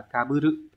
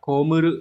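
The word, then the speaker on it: 被る: Thì chữ bị này sẽ có âm cư nyomi là kaburu. Kaburu là đội, đội mũ chẳng hạn. Hay là đọc là komuru, có nghĩa là chịu thiệt hại.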